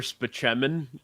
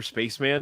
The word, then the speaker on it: Spaceman: did not know okay there's a doctor in it called Dr speman and and Tracy Morgan calls him Dr Spaceman because that's the way it's spelled but he always like